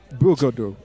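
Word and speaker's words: Burgaudeau: Well, give us how does one pronounce it? Mathieu Bergadeau. Bergadeau, okay.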